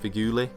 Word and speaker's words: Feghouli: I do know that the last name is pronounced Feghouli, but I don't know about the first bit.